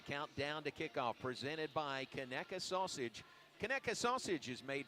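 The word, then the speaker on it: Conecuh: KKA sausage. That's spelled C O N E C U H. KKA Sausage.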